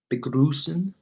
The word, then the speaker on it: begrüßen: Begrüßen, greet. Remember this thing that looks like a B? It's pronounced as a double S.